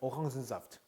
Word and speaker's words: Orangensaft: 그 중에 오랑지 같은 경우는 그래서 Orangensaft라고 합니다. Orangensaft. Orangensaft. 오랑겐 하지 않아요. Orangensaft라고 읽고 Ich esse gerne Tomatensalat, 토마토 샐러드 mit Orangensaft zum Frühstück.